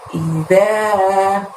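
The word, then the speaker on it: إِذَا: Di ayat ke-1 ini ada lafaz idza, i-nya tarik bibirnya ya karena itu huruf hamzah. I pendek, za-nya panjangnya 2. Jadi bacanya idza.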